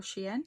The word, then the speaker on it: Shein: is from She Glam, which is a Shine makeup brand, or Shein if you want to call it that. I think that's how it's properly pronounced.